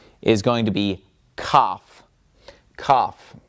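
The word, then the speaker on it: כף: Kaf, just like what you do when you're sick.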